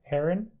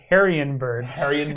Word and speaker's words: Herrenberg: Heroes of Herrenberg. Heroes of Herrenberg. Oh. Because the first time I said it was Heroes of Harrienberg.